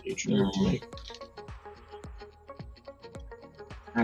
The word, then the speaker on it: H&M: You pronounce it HM, but pronounce the H like in ho.